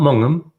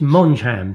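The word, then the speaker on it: Mongeham: to pronounce this place it's not mongum or monum it's mon jam think spongebob i was told so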